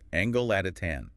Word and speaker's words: Angolatitan: So, starting right at the beginning, the name Angelatin, pronounced Angelotatan.